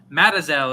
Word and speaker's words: Mazatzal: going to butcher this, Mazatzal, Mazatzal, Mazatzal Wilderness Area in central Arizona. Matazel is how it says pronounced. I said that wrong.